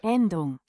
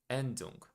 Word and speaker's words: Endung: I don't know how to pronounce that. Let me check so I won't say it wrong. Yeah, Endung. Endung.